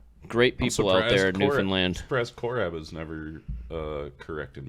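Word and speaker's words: Newfoundland: would have been like no it's Newan land new land he's rolling your eyes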